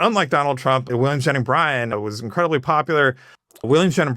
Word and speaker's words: Bryan: I used to, years ago, before I even studied it, I thought the lawyer's name was William Jennings Bryant, like the T.